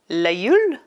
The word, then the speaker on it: La Gueule: Number 4 is it says la gueule, which is supposed to be pronounced la gueule.